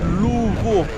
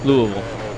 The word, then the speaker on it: Louisville: There's an interesting way of saying Louisville. Louisville. It's like It's not really three syllables.